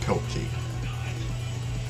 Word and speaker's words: Pilkey: Okay, thanks for clarifying the pronunciation of Moby fan. Pilkey.